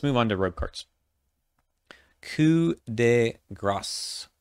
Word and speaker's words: Coup de Grâce: Coup de Grâce. Yes, you do pronounce the S at the end of this word. It's French.